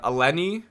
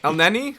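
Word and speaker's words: Elneny: view i thought uh eleni played uh well for arsenal i think that's how you pronounce the game i don't want to say it just tell me how to pronounce it no you're going to up el nenny oh my bad and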